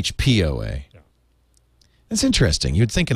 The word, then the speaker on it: HPOA: it's said ah see she said HOA but it's really HP OA that's interesting you'd think